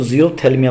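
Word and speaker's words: xerophthalmia: रा से रतौंधी, जिसको ज़ीरोप्थैल्मिया बोलते हैं। एक बात ध्यान रखना, ये जो शब्द ज़ीरोप्थैल्मिया है, इसकी एक्स से स्पेलिंग शुरू होती है, XERO, ठीक है ना, ज़ीरोप्थैल्मिया। इसमें पी साइलेंट होता है, THLYMIA, ठीक है ना, जीरोप्थेल्मिया।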